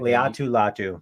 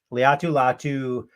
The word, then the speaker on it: Laiatu Latu: Laiatu Latu. Thank you. Laiatu Latu out of UCLA.